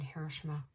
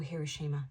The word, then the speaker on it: Hiroshima: Uranus went into Gemini just before they dropped the bomb on Hiroshima or Hiroshima, depending on how you say it.